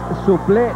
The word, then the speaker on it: suple: un galicismo así que la pronunciación correcta es suple la equis se suprime se acentúa la e y lo correcto el